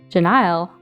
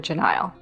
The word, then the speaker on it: Jennail: Why do I pronounce the J in Jennail as a Y?